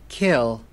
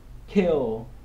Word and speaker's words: kill: Tương tự như vậy, bạn thấy âm K bật hơi trong tiếng Anh nó không giống với âm K trong tiếng Việt. Kill. Do đó khi mà bạn phát âm cái từ này, bạn phải nhớ là bật hơi nó ra.